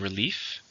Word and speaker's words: relief: number six we have relief relief is a feeling of happiness that something bad has not happened or that something bad has ended it's a noun two syllable stress from the second relief after the exam